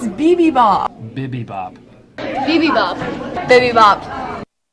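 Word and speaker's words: Bibibop: Bipibop. How do you pronounce your restaurant chain's name?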